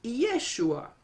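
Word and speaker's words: ישוע: Et si vous remarquez, vous avez le mot ou le nom Josué, qui se dit en hébreu Yehoshua, et on le met en parallèle avec le nom de Jésus, qui se dit Yeshua.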